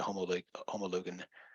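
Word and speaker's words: ὁμολογεῖν: And there's a silent H at the front of it. That's the homo of same, and then logan, O-L-O-G-E-I-N. That's the homologan of same saying.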